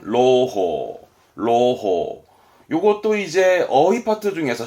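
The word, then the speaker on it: 朗報: 낭보. 발음은 로호.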